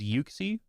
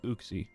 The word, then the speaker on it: Uxie: First option is Yuxie. Second option is Uxie. Which one do you say? Yuki. That's how I always used to pronounce it. And then for whatever reason, I randomly switched to Uxie. And I don't know why cuz I'm pretty sure it's Yuxie. I'm pretty sure it is Yuxie.